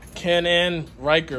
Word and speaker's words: Can-Am Ryker: one guys but yep this is the cannon riker right that's how you say it this thing is this